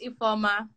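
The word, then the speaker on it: Ifeoma: y'all what's your name my name is iphoma spell it spell it i-f-e-o-m-a e-forma yeah i'm nigerian awesome shout out to nigeria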